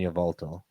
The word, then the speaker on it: Yveltal: Sorry, you're gonna have to help me with those pronunciations again. Xerneas and Yveltal. Xerneas and Yveltal.